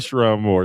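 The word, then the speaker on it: Sherrone Moore: That's right, Sharon Moore. Stupider is than I think me. that's how you pronounce his name.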